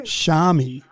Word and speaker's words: Xiaomi: Xiaomi.